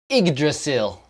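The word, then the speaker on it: Yggdrasil: away okay Tristan the the linguist says PR professional official pronunciation igdrasil igdrasil I guess there's no way to spell it out and pronounce it with English I'm imagining there's some some gut Lal sounds and some rolling of the rsil okay have I embarrassed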